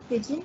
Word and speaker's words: Pidgin: ये जो word है Pidgin, that is pronounced as Pidgin.